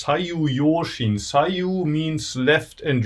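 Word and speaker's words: 左右揺振: So there's this word which is in Japanese pronounced as sayu yoshin.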